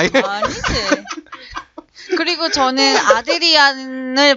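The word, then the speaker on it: Adrian: 그리고 저는 아드리안을 발음하는 방법. 아 에이드리안.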